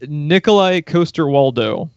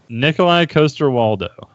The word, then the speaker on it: Nikolaj Coster-Waldau: never dared pronounce it Nikolaj coster-waldau is the way you pronounce his name Nikolaj coster-waldau Nikolaj coster-waldau he sounds almost like a Mario villain or something I doesn't say so Nicolai like Russian coaster like you set your cup on and then waldo like